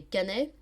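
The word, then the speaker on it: Caennais: De quelle ville les Canais, donc ça s'écrit C-A-E-2-N-A-I-S, sont-ils les habitants ?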